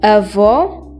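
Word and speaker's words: avô: Avó and avó. Avó means grandfather and avó means grandmother. Do you notice how we pronounce the O in grandfather more closed and the O in grandmother more open?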